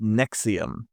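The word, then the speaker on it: NXIVM: First, we have NXVM, pronounced Nexium.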